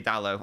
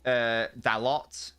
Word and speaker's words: Dalot: Well, I meant to say Dalot, or Dalot, however, or it's not, if I said Delors, you know, I apologise.